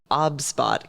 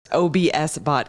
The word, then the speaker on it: OBSBOT: did want to show the OB spot camera I pronounced it incorrectly correct OBS bot camera because I you you